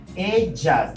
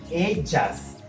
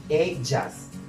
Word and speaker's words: ellas: Ellas. You changed O for A. Ellas. Okay? Ellas. Double L is pronounced J. Ellas. Not ellas. Okay? That is correct. It's ellas.